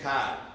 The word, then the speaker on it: Card: apologize up front for saying my name is codd in that c-a-r-d you would write that as c-a-i-d it's c-a-r-d but i was taught